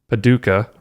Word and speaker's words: Paducah: And she said, I generally watch on YouTube, but was getting caught up listening on my drive home from Quilt City, Paducah, right?